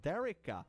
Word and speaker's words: Darika: That I have an Audrea and also a Darika, which is pronounced Derica.